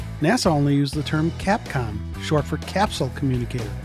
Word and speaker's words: Capcom: NASA only used the term Capcom, short for capsule communicator, not Cape Con. A lot of people mispronounce it, but it sounds just the way it's spelled.